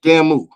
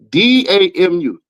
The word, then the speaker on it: damu: He said Damu. D-A-M-U. That's not how you say that shit. It's Damu. Literally.